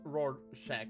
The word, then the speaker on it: Rorschach: Rorschach, pronounced Rorschach.